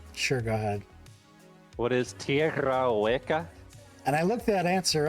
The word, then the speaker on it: Tierra Hueca: excuse me if I pronounce this wrong, but what is Tierra Huaca?